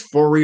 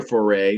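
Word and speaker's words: Foree: But yeah, I don't know if it's Foray or Foray because it's like I'm pretty sure it's a French last name, and I know when they have like the two e's like that, a lot of times it's pronounced like A.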